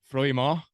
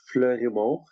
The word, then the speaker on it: Fleurimont: So you were born in Froidmont, Quebec, Canada. Hope I got the French accent down there. Is that where you kind of first learned to play hockey? Yeah, it's Fleurimont, in to say it right.